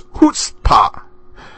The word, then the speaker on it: chutzpah: It is chutzpah. The CH is pronounced like the H, and I know I've probably said chutzpah a few times.